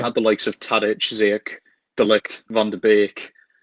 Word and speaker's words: Ziyech: Is that how you pronounce it? Yeah, Hakim Ziyech.